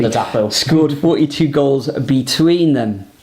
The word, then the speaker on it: Ladapo: The likes of Connor Chaplin and Freddie Ladapo, let me pronounce that correctly, Ladapo, scored 42 goals between them in that Division 1 promotion campaign.